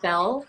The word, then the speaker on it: Belle: It's Bell, but I think a lot of people usually call me Belle Yeah. because Oh, it's okay. one syllable.